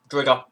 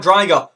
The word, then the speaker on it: xDriger: So, me, Drigger, xDriger. Not Driger. Fucking stop calling it Driger, man. How hard is it?